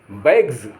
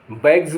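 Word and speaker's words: bags: वाई आदि आए तो इनके बाद लगे एस का उच्चारण जा होता है जैसे टी आर आई बीई S tribes tribes माने जातियां बी ए जी एस बैग्स बैग्स माने थैले ई डबल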